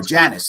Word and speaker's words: Janus: pronounced i actually don't even know how it's pronounced janice well i know mark janus himself there we go janice thank you that's kind of where this story